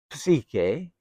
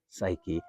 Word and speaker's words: psyche: Psychology comes from two Greek words, psyche or psyche, and logos. Psyche or psyche in Greek, it's pronounced with the P, is literally translated in Greek.